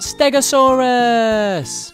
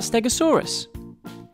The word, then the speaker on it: Stegosaurus: triceratops today we're going to learn all about stegosaurus how do you say that again stare go saw russ can you say it with me go saw russ so what do we know about stegosaurus it was found in the united states and